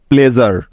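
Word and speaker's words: pleasure: তার আগে ভাওয়াল আছে, অর্থাৎ এস এর উচ্চারণটা জ হয়ে যাবে এখানে, তাই তো? নিয়মটা সবার মনে আছে তো? সুতরাং PLEA প্লে এবং SURE জার যোগ করলে হয়ে যাবে প্লেজার।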